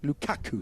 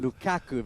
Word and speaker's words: Lukaku: As a as a confessed football fan Carl, we're going to have to work on your pronunciation of Lukaku. It's Lukakuaku. Lukaku. Lukaku.